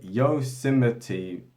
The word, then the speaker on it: Yosemite: cinema yes yes i don't know how to pronounce it yo yosemite pop national park in 1890 right and so